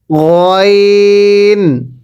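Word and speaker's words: غين: এরপরে গইন। এবার গলার মাঝখান থেকে উচ্চারণ হবে গইন। আবার গইন। এটা গাইন না, গইন।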